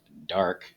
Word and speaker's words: DARC: This is an Estes model, the DARC-1, which I assume is probably supposed to be pronounced dark, so dark 1.